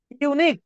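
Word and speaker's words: unique: correct বলবো আমরা দেখেন ইউনিক ইউ এর মত উচ্চারণ হলে এন বসাইতে পারবেন না উচ্চারণ হবে এ তাহলে এটা বাদ আচ্ছা এখানে আর্টিকেলের ব্যবহার এখানে ডিগ্রি সেন্স চাইনি আচ্ছা this is আ ইউনিক case এই যে এবার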